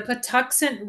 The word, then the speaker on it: Patuxent: name off because I don't know how to pronounce it so go for it oh oh okay so it's the pent River Park uh located near Buoy Maryland okay so pant okay so last time you were on talking